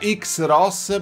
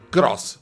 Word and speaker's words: Xros: Mi ha detto: Tato, attenzione, perché non si pronuncia X-Ross, bensì Cross.